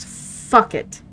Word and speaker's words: facere: Do you know that, like, facere, which is what that is, do, to do, if you singular nominative, it's pronounced fuck it.